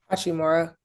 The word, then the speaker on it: Hachimura: Hachimura. Hachimara, yeah, they got a lot of good pieces that you could play pause around them too.